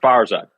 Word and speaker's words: Farzad: one hundred percent correctly it's pronounced farzad it says super persian name awesome iranian originally gotcha